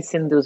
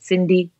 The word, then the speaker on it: Sindhu: one so just put cindu comedy and I'll show off n d h u v s n d hu rhymes with Hindu in case you ever get confused was it was it Cindi no it's not Hindi